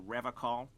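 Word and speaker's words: Revachol: I've been tempted on occasion, but someone has to stay strong for Revocol. As I say that, Kim raises his eyebrows further. He pronounces Revocol with a hard K, unlike other people.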